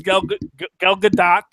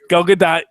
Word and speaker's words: Gal Gadot: good so long as Gal Gadot, you do pronounce the T. Gal Gadot is, you can look it up online.